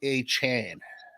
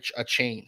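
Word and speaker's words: Achane: He wants to be called Devon A. Chan, not a chain.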